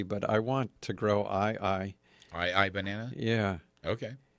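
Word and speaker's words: ʻAeʻae: my new property but I want to grow i-i-i-i banana yeah okay it's one that the high captain it's spelled a E - a E and it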